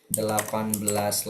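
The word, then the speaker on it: eighteen: Dan untuk 16 itu 16, 17 itu 17, 18 lagi-lagi GH-nya nggak dibaca ya.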